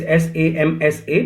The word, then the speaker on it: Samsa: a character Gregor Samsa it's just spelling his s am s a but we pronounce it Samsa Gregor Samsa without any